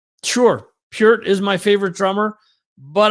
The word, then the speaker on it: Peart: Pert is, see, this is what I didn't want to happen. And I pronounced Neil Peart wrong. Mike Portnoy. Peart is the greatest of all time.